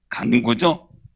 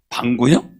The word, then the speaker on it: 간구: 간구죠? 차례대로 해야지. 방구요? 간구. 발음을 똑바로 하지.